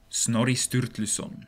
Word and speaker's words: Snorri Sturluson: worked and died where I'm walking right now Snorri Sturluson apparently pronounced like that was an Icelandic poet and